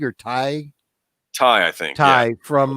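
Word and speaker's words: Tigh: So those of you remember Commander, how's it pronounced? Teague or Ty?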